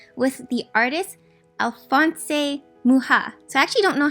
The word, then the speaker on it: Mucha: a collaboration event with the artist Alphonse a muha so I actually don't know how to say his name um I it out it just said Alphonse Mucha and I thought it's muchas so I'm really glad that I actually looked